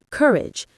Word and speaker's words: courage: When you pronounce courage, stress the first syllable, courage. Let your voice drop gently at the end.